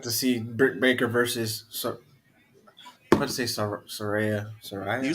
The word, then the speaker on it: Saraya: That's gonna be psyched to see Britt Baker versus Saraya.